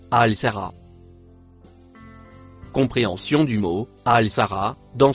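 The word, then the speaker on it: الساهرة: On peut la traduire par avec ou en compagnie de Le mot en vert se prononce Al Sara.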